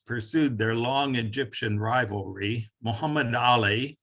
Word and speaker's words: Muhammad Ali: their long egyptian rivalry muhammad ali or mahmud ali if you prefer the turkish pronunciation and his descendants won